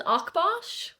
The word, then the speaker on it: Akbash: other dog cross that I He would just mispronounce it, I'm afraid. he's an Akbash.